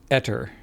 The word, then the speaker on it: Aether: Speak the word ever and replace the V with T and speak it the same way. Etter. Ever? Replace that with a T. Etter.